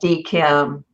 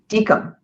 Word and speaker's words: DKIM: to do is the dkim d mark and spf records dkim that's not how you say it it's dekum dickham i always say it wrong so i could say